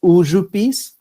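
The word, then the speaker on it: Užupis: in the district of the same name pronounced as uzu peace uh district is historically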